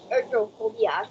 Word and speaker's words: ergophobia: did I pronounce it right ergophobia did my pronunciation right ergophobia yes yes okay all right wow you such